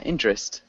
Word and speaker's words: interest: withdrawal interest collateral nice when we say interest yeah don't really pronounce that e that first e can you repeat interest yeah interest and then direct direct